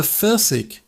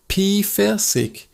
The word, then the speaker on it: Pfirsich: It's de Pfirsich. De Pfirsich. That P-ev sound at the beginning is quick, like a puff of air. Pfirsich. The ending ish is a soft sound from your throat.